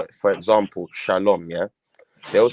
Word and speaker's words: shalom: Furthermore, they're not even saying peace because they're saying shala wam. That wam, that W in the wam is a vowel. It's the vowel. So it's shalom.